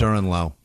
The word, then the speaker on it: Durenleau: It's Durenleau. That's French.